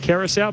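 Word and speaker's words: Curaçao: That actually is pronounced Kerous, but it is.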